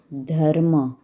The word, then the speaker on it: धर्म: उदाहरण के लिए ' धर्म, हम धर्म के बारे में लिखें और इसका उच्चारण ध + की तरह करें आधा आर + एम यानी धर्म।